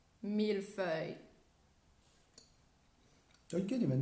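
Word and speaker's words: mille-feuille: that actually comes to one word that people don't say cannot say properly in um in french it's mila fey i like i think every time we have it people are like how do you say it how do you say it so it's like milfoy you could even say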